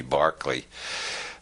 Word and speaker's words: Berkeley: all lights and Bishop Berkeley George Berkeley we have to whom the City of Berkeley is named because Americans don't know how to pronounce Irish names it should be Barclay Bishop Berkeley proved the